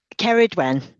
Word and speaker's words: Ceridwen: Is it Ceridwen? Ceridwen. Ceridwen. I'm Think close. think about County Kerry Oh and then yeah. add a Dwen.